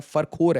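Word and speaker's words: Farkhor: तो फकरोर एयरबेस के बारे में ये फरखोर या फकरोर जैसे इसे प्रोनाउंस किया जाता है। फरखोर है एसेंशियली।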